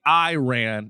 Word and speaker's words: Iran: I saw this post this chick was like, so Americans say Iran and Iraq, but they can say Italy. And I was like, oh, fuck, I was doing that. So Italy, Iran, it's the same I sound.